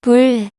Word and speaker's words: 불: It's bu. When adding the consonant leo to it, it becomes 불. 불 means fire in English.